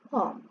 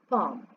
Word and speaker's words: palm: can get them from palm and the l is silent okay palm professor is the person